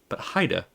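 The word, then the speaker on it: Heide: It is pronounced Haida. Haida. Okay. So not Hades and not Hyde, but Haida.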